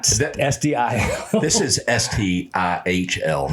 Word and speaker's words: STIHL: This is STIHL, not STIHL.